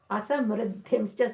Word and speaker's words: asamriddhimscha: Asamriddhimscha. Sometimes you will say vr, but I go for mr.